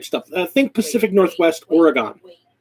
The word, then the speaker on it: Oregon: i think pacific northwest oregon oregon oregon looks like oregon county no it's oregon oh my god i